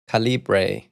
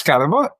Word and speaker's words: Calibre: She says that caliber is pronounced calibbra and I'm like no but I had a call with the guy that created the tool and he says caliber.